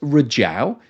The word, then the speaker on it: Rizhao: Well, it's pronounced Rizhao, and it sits on China's east coast in the Shandong province, which is in the heartland of Chinese oil refining.